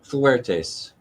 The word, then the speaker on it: Fuertes: I mean, did I pronounce correctly Fuertes or Fuertes? Fuertes. Okay. Fuertes.